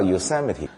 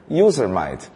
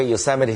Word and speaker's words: Yosemite: 安名字，如果按照英文发音法会念成 Yosemite。所以大家到加州一定要小心啊，不要露怯。